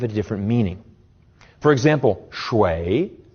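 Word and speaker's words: 水: different meaning for example shui with a falling and rising tone means water but shui pronounced with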